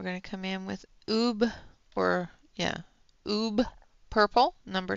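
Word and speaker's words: ube: And then we're going to come in with Oob, or yeah, Oob Purple, number 20. Thank you, Alex. And we're just going to do the shadows in the Oob. Oobe. That's Oob. It's U-B-E. It's Oob.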